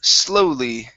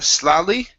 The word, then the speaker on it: slowly: And our last one here is the word slowly instead of slowly. Okay, it's oh, slowly. Slowly.